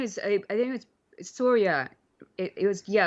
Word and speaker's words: Surya: i think it was soria it was yeah it was kind of more like pronounced like sonia but it was sore